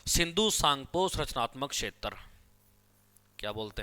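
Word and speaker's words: Tsangpo: यहाँ पे T silent है बच्चों, ठीक है, सांगपो के अंदर टी साइलेंट है।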